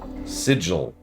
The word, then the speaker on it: Sigil: Sigil. The word is pronounced sigil.